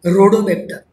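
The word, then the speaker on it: Rhodobacter: Example क्या दिया है, पर्पल नॉन सल्फर बैक्टीरिया एक ग्रुप है, उसमें स्पेसिफिकली एग्जाम्पल दिया रोडोबैक्टर. एच साइलेंट है, रोडोबैक्टर. फिफ्थ नंबर पे आते हैं दैट इज एरो टॉलरेंट एनएरोब्स.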